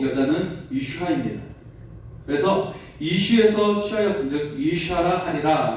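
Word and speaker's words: אִשָּׁה: 히브리어 발음과 관련된 말씀인데요. 히브리어 남자는 이쉬이고 여자는 이샤입니다.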